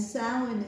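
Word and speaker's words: Samhain: it out is because s sounds nothing like it is and this is the gaic or Irish pronunciation of it um and sin is the last of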